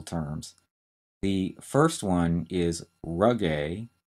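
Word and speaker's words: rugae: more straightforward anatomical terms the first one is rug a r u g a e and the rug a are folds in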